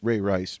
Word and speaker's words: Ray Rice: Diddy, the Ray Rice video, because I'm only ringing Ray Rice, which I'm not sure if I'm saying his name right, the running back for the Baltimore Ravens.